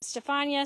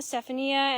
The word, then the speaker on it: Stefania: of people are asking how you say her name Stefania Stephania and it honestly comes down to preference congrats tomato tomato yep